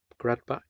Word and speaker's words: Gradbach: and parked here at grad batch just poop some people pronounce it grad back buyer who said crud